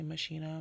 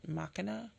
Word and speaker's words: Machina: is the MAA palette some people say Machina MAA I was told to pronounce it makina um when I was